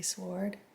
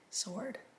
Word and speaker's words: sword: how I say sword, but honestly, it's spelled SW, sword, right? I know, you're probably on the same team as them. You're like, sword. But for some reason, I always want to say sword.